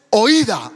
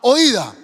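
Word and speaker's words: οἶδα: Y ese conocimiento en el griego es oída, así como se pronuncia. O y d a oída.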